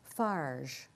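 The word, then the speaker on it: Farges: showing it's called paul fajr SAR GES summer snow and fajr sort of rhymes with large anyway he says I've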